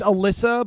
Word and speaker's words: Alessa: It's Alyssa, but with an E instead of a Y.